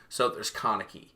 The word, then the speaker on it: Kaneki: like okay this is a great connector it's pronounced kaneki by the way you we'll